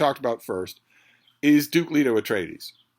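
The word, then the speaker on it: Leto Atreides: Duke Leo at trades you will hear uh dun bro there dud bro dun bro snobs uh who will will ostentatiously pronounce it leato at trates it doesn't really make a difference these characters don't in fact exist I I call him Duke Leo at tradies you're free to call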